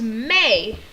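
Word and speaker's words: Mei: Her actual name was May. Spelled M-E-I.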